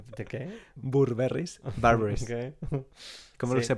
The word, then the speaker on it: Burberry: En espagnol, ça se prononce Burberry's. À propos de quoi? Burberry. Burberry.